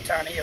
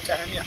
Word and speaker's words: Tania: Yeah, I just say Tania or Tania.